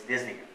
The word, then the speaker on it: dyspnea: Okay, it's spelled as dyspnea. I don't know why Greek do that all the time, but it's dyspnea.